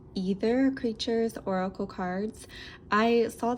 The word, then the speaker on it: Aether: of the Teal Swan I think it's pronounced either creatures oracle cards I